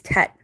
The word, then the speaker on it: Tet: The pronunciation T as in tall.